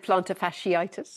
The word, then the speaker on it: plantar fasciitis: well I'm very impressed at the way you pronounced it because it is plantar fasciitis we did practice on the break thank you